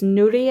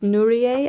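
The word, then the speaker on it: ぬりえ: Hiragana or kanji for coloring book in Japanese, which is Nurie. I think it's pronounced Nurie. I'm not completely sure.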